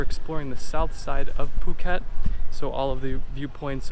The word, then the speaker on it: Phuket: and province Phuket and yes it is actually pronounced Phuket not the common mispronunciation Phuket we're staying on kata Beach and today we